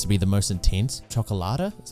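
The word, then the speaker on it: Cioccolata: like it seems to be the most intense chocolata is how you say his name with his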